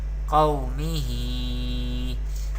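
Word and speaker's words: قومه: So we pronounce qaf with thicker voice in every condition.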